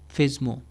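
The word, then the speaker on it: FSMO: FISMO roles, the full name or full form is Flexible Single Master Operations or FISMO, sometimes pronounced FISMO।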